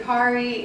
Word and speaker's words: Kari: So it's Kara and Kari, and we were meant to be together.